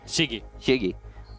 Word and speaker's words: SYZYGY: How do you pronounce it? Shigi.